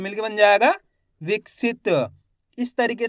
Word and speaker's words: विकसित: आपको बताता हूं और यहां पे सित सित का लास्ट वाला अक्षर हो गया ता तो यहां पर आधा उच्चारण कर देंगे अपना आप ही शब्द